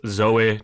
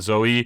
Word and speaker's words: Zoe: I believe it's Zoe, not Zoe. I think the E has a weird pronunciation at the end, but this is actually very popular in the EV market in Europe.